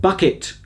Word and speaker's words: Bucket: as the indelible missus hyacinth bucket bouquet bucket pronounced bouquet of course as Joseph has said